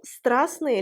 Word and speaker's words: страстные: Faites attention, страстные, la consonne T ne se prononce pas.